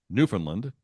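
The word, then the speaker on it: Newfoundland: 20th century would pronounced Newland just as you did with the emphasis on the first syllable and the second and third syllables are said almost as a Mumble it's like a crime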